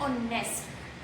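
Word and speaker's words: honest: बट जब इसको हम प्रोनाउंस करते हैं, जब इसको हम बोलते हैं, तो इसमें हम एच को साइलेंट रखते हैं एंड बोलते क्या है, ऑनेस्ट, ओ ऑनेस्ट।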